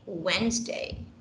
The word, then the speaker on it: Wednesday: we must learn okay we do not say wednesday but we say wednesday wednesday got it yeah so